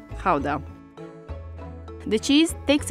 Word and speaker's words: Gouda: Depending on whether you're a native, you would pronounce it either Gouda or Gouda. So since we're talking about authentic Dutch cheese, we're going to call it Gouda.